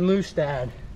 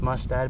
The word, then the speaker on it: Mustad: now we're gonna do 30 swipes at the Moose dad that's not how you say the name it's pronounced mustad but Moose dad's a lot more fun to